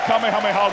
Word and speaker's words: Kamehameha: I'm sorry, Tarrant, you pronounce it wrong. It's Kamehameha.